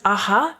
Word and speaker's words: Aja: said at the beginning, should I pronounce this aha where the where the J the letter J is very often an H sound and and so it